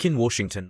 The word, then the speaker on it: quinoa: Quinoa, pronounced Washington, may sound strange, but it's actually an ancient grain that was cultivated by the Incas thousands of years ago.